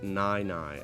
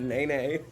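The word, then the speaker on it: Nai Nai: he's a stand-up alligator it's pronounced nigh nigh as in the night it means grandma oh nigh nigh I thought you meant nigh neigh now watch me whip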